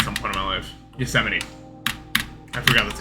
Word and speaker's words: Yosemite: Yosemite. I forgot that's how you pronounce it.